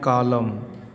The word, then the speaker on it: कॉलम: फिर यहाँ लिखे हैं कॉलम, यम के बाद देखिए यन है तो इस यन का उच्चारण क्या हो गया, साइलेंट। यहाँ लिखे हैं कंडम, यहाँ